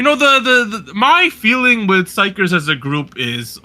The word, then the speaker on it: xikers: So apparently it's not xikers. Apparently it's xikers with an S. Is the way you're supposed to pronounce this group based on the Korean.